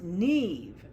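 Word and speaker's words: Niamh: Inside the coat is my name, embroidered by a volunteer at the Children's Aid Society, Niam. Yes, Niam. Oh, pronounced Neve. A common enough name in County Galway, and not so unusual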